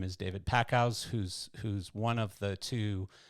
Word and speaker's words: David Packouz: David Packouz.